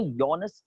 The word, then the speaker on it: Johannes: वो लिखा जे है लेकिन उसको प्रोनाउंस जी नहीं करते, हम लोग बोलते हैं योनस केपलर.